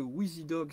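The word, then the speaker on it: Wizidog: Alors, on précise que WheezyDog, ça s'écrit W-I-Z-I.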